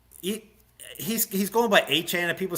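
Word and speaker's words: Etienne: and there are like he he's going by achan and people say it's rude to not call him Travis Achan.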